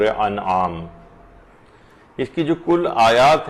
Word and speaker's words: انعام: وہ یہ ہے کہ لوگ اسے سورہ انعام پڑھتے ہیں، جبکہ یہ ہے سورہ انعام، یہ زیر کے ساتھ نہیں ہے بلکہ یہ زبر کے ساتھ ہے، تو اس کا صحیح تلفظ ہوگا سورہ انعام۔ اس کی جو کل